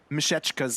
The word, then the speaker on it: Mishechka: But I've gotten word on how to pronounce Mishechka's name. It's Mishechka.